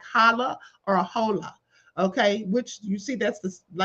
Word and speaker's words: hola: words like hala or hola. Okay, which you see that's like the Spanish word hola is how they pronounce it. The H is silent.